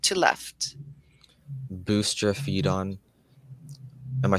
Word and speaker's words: boustrophedon: Boustrophedon. Am I saying it correctly? Yes. Boustrophedon.